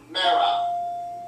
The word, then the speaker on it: Mara: name Mara. As in Sarah, that rhymes with Sarah.